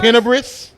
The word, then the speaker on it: tenebrous: Am I saying it correctly? That's right. Tenebrous. Breast.